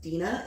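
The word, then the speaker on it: Dene: I think it was I think it's pronounced Dina it's d-e-n-e Dina Dina so Dino's actually his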